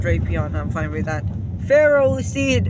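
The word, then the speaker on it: Ferroseed: I'm fine with that pharaoh seed and Pharaoh Thorn not for a raw seed or for raw Thorn fairies which contains iron you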